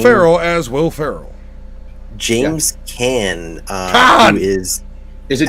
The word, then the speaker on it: Caan: James Caan, Caan! who is Is it James Caan or James Caan. is it Caan? It's Caan? But Caan. then wouldn't it be Khan?